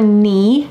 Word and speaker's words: knee: Then below your knee. Notice that the K is silent.